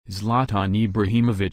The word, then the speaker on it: Zlatan Ibrahimović: Zlatan Ibrahimovic Swedish pronunciation escalate an Ibrahimovic Bosnian pronunciation Zlatan ibraxi